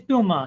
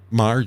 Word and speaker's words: Maher: it's m right it's Bill Mah yeah bah yeah don't pronounce the h Mah um well maybe